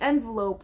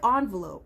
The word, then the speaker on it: envelope: I say like envelope, okay? People say envelope, but I like envelope. I say envelope, okay?